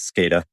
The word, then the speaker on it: SCADA: The acronym just to be clear, industrial control systems, so for the IC side and we pronounce it over in the states as SCADA.